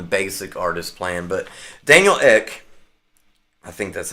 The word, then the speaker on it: Ek: Um you can do that on the basic artist plan, but Daniel Ek, I think that's how you say it. It's just ek.